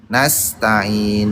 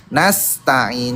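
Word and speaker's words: نستعين: Nasta'in seperti bilang nanas ya, langsung ngerti dia kalau bilang nanas. nastain. Nah, terus innya jangan i bukan a i u tapi a i u nastain tekan ya di tenggorokan tengahnya kayak orang ngeden nastain ya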